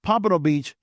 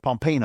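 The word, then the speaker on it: Pompano Beach: I remember him mispronouncing a city here. It's PMPO Beach. He called it Pompeo.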